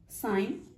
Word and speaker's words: sign: سائن, SIGN, ہم نے اس کو سائن پڑھا ہے.